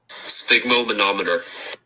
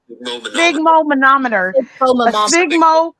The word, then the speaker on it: sphygmomanometer: Right, let's see what Google tells us as far as pronouncing. So let's see if you can hear this. Let's see. Sphygmomanometer. Did you hear that? Sphygmomanometer.